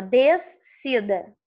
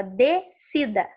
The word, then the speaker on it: descida: Quando eu falo descida, eu não falo o som do S. Repararam? Você não fala assim, ó, descida. Não, você fala descida.